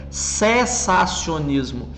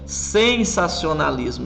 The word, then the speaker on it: sensacionismo: Inclusive, é bom destacar que a pronúncia é sensacionismo. Existe uma palavra muito parecida que é sensacionalismo. E algumas pessoas acabam confundindo, mas a palavra é sensacionismo porque está vindo de sensação, de algo que está terminando.